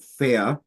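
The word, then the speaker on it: Feer: And my wife and I like to go on holiday there on the island of, well, in Frisian it's called Fea, in German it's called Föhr. And it's so Fering, spoken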